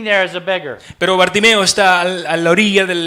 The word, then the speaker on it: Bartimeo: I don't know how you say it in Spanish. Bartimeo. Okay. Y típicamente uso una historia como el ciego del ciego Bartimeo.